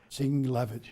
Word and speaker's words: Dingell: I won't even try, John, to pronounce the original family name. Well, it's not that hard. It's Dingell. Dingell.